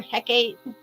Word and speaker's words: Hecate: it's funny because it some people call her Hecate um it's like tomato tomato okay um Hecate um it's three syllables but originally I think it is in English form it was actually two syllables once upon a time so I don't believe